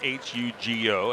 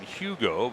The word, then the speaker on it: Hugo: Spells his first name H U G O as in Hugo, but it's pronounced Hugo.